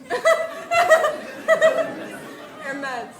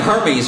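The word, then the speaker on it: Hermès: Her meds. They're Yeah, they're men's. Hermes. It's pronounced Hermes.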